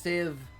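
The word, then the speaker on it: sieve: Pronounced civ, sir.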